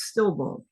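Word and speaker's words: στίλβων: This Greek word phonetically is stillbone.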